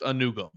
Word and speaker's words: Anugwom: Anugwom. Anugum. Apparently just Anugum. Arkel Anugum. We're going to ignore the W.